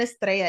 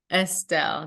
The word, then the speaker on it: Estelle: I just looked at it and noticed I'm like, there's no R or A in there. I've been saying Estrella. Is it Estelle? Estelle, yes.